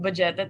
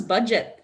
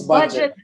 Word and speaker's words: Budjette: cool i'm talking with vegeta right now it's it's but it's pronounced as budget i i've been saying